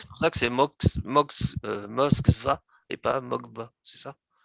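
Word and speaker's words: Москва: Moskva, oui, Mokv, Moskva, c'est Moskva, ça, c'est ça.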